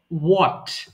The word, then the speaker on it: what: একটু দেখবেন যেমন আমরা হোয়াট বলি এটা সঠিক উচ্চারণ হবে হোয়াট অর্থাৎ WH এর পরে W এর পরে H এর উচ্চারণটা প্রয়োজন নেই এটা বিদেশিরা করে না আমরা বলে থাকি হোয়াট